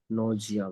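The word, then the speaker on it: nausea: इसको देख लीजिए एक बार, प्रोनाउंसिएशन नोसिया। नौजिया बोलते हैं, ठीक है।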